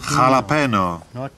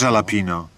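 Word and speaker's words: jalapeño: J się czyta jak H. Jalapeno, nie jalapino.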